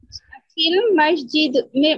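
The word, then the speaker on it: في المسجد: ফিল, না না, ফি এসে লাম তো ধরবে। হ্যাঁ, ফিল মসজিদ, মসজিদি। ফিল মসজিদি।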